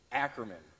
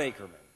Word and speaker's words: Ackerman: It's Ackerman, not Ackerman.